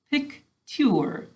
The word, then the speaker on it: picture: so listen pic sorry pic sure is how we say it picture is how we say it to spell it you know what i hear that's different in that last syllable i hear an er don't you think you